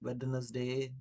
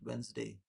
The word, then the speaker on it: Wednesday: This is not Wednesday, this is Wednesday. D is silent.